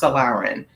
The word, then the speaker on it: Solarin: a a black non-believer his last name is pronounced salarin salar and uh yeah and so he Dr